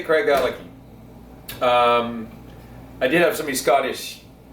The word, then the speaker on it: Craigellachie: We're gonna look for Craigellachie Distillery, which is in the community of Craigellachie, which hugs the Spey River.